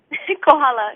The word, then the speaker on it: Kohala: Kohala, yes, so many family members.